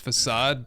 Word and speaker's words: facade: I think it's pronounced facade, but I thought that this would look really good right there.